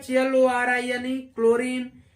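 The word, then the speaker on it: chlorine: देखेंगे अगला सी सी एओ आर आई यानी क्लोरीन टी सी के टेक ये सारे शब्द यानी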